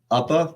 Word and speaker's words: UPPA: or oopa or yupa how do you pronounce it appa upper that's how i pronounce it too yeah u-p-p-a the unlicensed